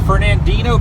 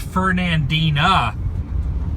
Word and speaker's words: Fernandina: in the corner of Fernandino Beach. Okay, it's actually pronounced Fernandina. I think I had the Flintstones on my mind.